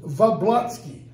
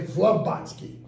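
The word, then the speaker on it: Vablatsky: She is a direct relation to Cassandra, I always mispronounce it, Vablotsky. I always want to say Vlobotsky because of this, okay?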